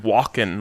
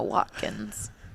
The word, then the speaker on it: Watkins: Walken, like Christopher Walken. No, Watkins. I just didn't pronounce the It's T.